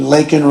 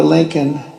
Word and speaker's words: Laken: And then he pronounced her name wrong. Remember, he called her Lincoln. Remember that?